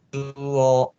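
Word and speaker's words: 中央: Cuo. Cuo ya. Cuo. Cuo, cu panjang, o-nya juga panjang.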